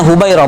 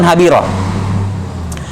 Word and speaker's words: Hubairah: Yani semua ulama kalau mendapati nama seperti ini, ha, ba, ya, ro, ta marbuto, semua sudah tahu ini bacanya Hubairah, bukan Habirah.